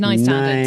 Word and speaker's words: Nine Standards: Then it's up to I said it wrong yesterday, wasn't it? It's nine standards.